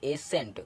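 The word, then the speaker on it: ascent: एस के बाद आया सी सी साइलेंट होता है जैसे एस ए एस सी ई एन टी तो ए एस सी ई एन टी तो एस के बाद आया है सी तो इधर सी साइलेंट हो जा रहा है तो इसको पढ़ेंगे एसेंट क्या पढ़ेंगे ए सेंट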